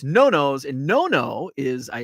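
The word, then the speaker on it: Nonno's: last night we went to a place called no-no's which I had been mispronouncing it uh it's spelled n-o-n-n-o-s and uh uh I thought it was Nanos uh it's Italian it's probably the best it's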